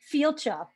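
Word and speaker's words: Fàilte: And I learned how to pronounce one of the words on the thing, Fielcha.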